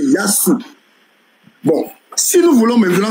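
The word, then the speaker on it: يسوع: transforme à s donc le véritable nom de Jésus là c'est yasou est-ce que vous avez compris que les les les les les chrétiens arabes prononcent ils ne disent jamais que c'est Issa ils disent c'est yasou bon si nous voulons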